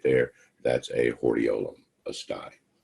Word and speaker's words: hordeolum: Another one of your test items is this word right here, pronounced hordeolum.